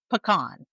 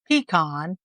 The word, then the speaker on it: pecan: the King Ranch, and pecan pie. I pronounce it pecan, while others might go with pecan, pecan, or pecan.